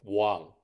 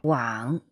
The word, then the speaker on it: 网: 网, 乌, 昂. 网, 乌, 昂.